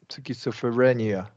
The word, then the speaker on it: schizophrenia: always is like like egg okay okay okay schizophrenia yeah schizophrenia skopia that's correct skopia F Feria F like FR frenia yeah schizophr schizophrenia SCH frenia yeah there it is that's right